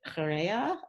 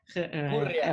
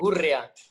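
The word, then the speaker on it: Gurrea: Is it Correa or is it Chet? How do I say it? Gurria. Okay. Gurria. De Gurria.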